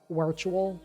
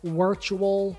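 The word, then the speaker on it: Wirtual: So it's literally the way you spell virtual, but instead of a V, it's a W. Uh, he's Norwegian, so I just I guess they like they pronounce their W's as V's.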